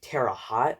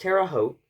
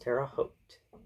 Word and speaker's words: Terre Haute: also a lot of people like to say Terre hot when they say Terre Haute it's pronounced Terre Haute stop saying Terre hot it's pronounced Terre Haute also before you insult Indiana again first of